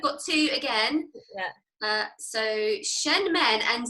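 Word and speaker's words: Shenmen: Did I say those right? I said that earlier, and I didn't know if it was actually the right pronunciation. Yeah, you did say them right.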